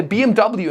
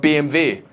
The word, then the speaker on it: BMW: own I say BMW instead of BMV you know I'm trying